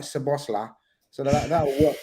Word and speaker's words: Szoboszlai: And then obviously there's Szoboszlai. It's very easily 3-syllable, guys.